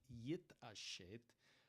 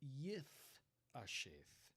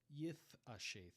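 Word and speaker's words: יִתְעַשֵּׁת: Tiberian pronunciation would be Yith Asheth. Yith Asheth. It would be the TH like in the word thing.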